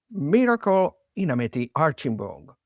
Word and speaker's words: Miracle Inameti-Archibong: and she lives in the UK and she's Miracle Inameti-Archibong. I hope I pronounce it correctly, your name.